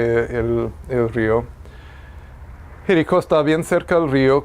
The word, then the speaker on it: Jericó: Jericó, faltó el acento, perdón. Jericó, Jerusalén, Betania y Belén. ¿Sí logran verlo? Entonces, Tiro, Capernaum, Nazaret, Jericó, con acento en la O, Jerusalén, Betania y Belén.